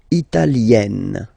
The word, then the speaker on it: italienne: L'Italie, italien, italienne. Remember, when you get this E followed by a double consonant like here, then you will have to open it. Italienne, italienne.